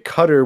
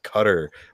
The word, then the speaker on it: Qatar: how to pronounce like people have been there have told me that the closest way to say it is Qatar, like just like Cutter, pronounce it that way.